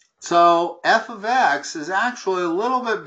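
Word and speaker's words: f(x): you got all right F parentheses X so just why I guess Michaels hold on a second first of all this is pronounced f of X you don't need to say F parenthesis X and parentheses it's f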